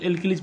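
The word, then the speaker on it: alkali: अच्छा इसको एल्किलीज पढ़ते हैं, क्षार का स्पेलिंग क्या होता है, एल्किली होता है, एल्कली, अनारकली नहीं बोलना है, एल्किली बोलना है।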